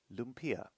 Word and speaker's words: lumpia: And it's pronounced lumpia.